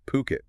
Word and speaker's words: Phuket: Yeah, they're a luxury real estate agency, and they're based in, well, they pronounce it Phuket. Phuket, Phuket. not Phuket. Right, which a lot of people get wrong.